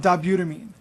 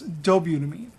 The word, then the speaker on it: dobutamine: though the two most common are isoproterenol and dobutamine you also may hear it pronounce dobutamine I prefer dobutamine because there's dobutamine and dopamine if you go